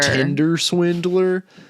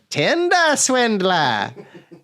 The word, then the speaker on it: Tinder Swindler: way that we are you are saying it wrong yeah it is not her tender swindler get out of here it is the tinder swindler for i am the